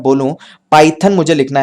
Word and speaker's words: Python: पाइथन, पाइथन PH नहीं PI, पाइथन। तो हमने क्या किया, उसको उसके प्रोनाउंसिएशन स्टाइल में लिख दिया, तो उसको फोनोग्राम बोलते हैं।